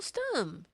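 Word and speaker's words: Stumm: "Why, it's Colonel Stum," he cried. He pronounced it like the first syllable in stomach.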